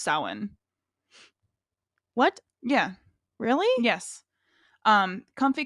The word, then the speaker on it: Samhain: real quick before we go though, when I was editing the astrology episode, we kept saying Samhain, and that's not how it's pronounced. It's No, it's pronounced Samhain.